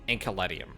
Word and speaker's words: Enceladium: The facility marked in red is the Enceladium. It's probably Enceladium, because they usually CE with, like, the imperial pronunciations, which are basically the Roman pronunciations, would have a hard C there, so Enceladium.